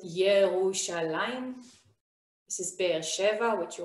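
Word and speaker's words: ירושלים: this is tel aviv jerusalem we pronounce it yerushalayim this is beersheva which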